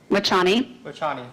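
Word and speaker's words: Vachhani: note at the end of the i can't pronounce that doctor's name is that correct lachanie thank you sam it's v-a-c-h-h-a-n-i do you see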